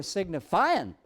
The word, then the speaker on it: signifying: Notice the accent. You don't necessarily pronounce the G. They were signifying on the chain.